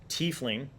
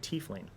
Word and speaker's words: tiefling: With the good pencil, under race, you're going to write tiefling. And that's how you spell it. Some people pronounce it tiefling, but I think that's dumb. So I'm going to say tiefling.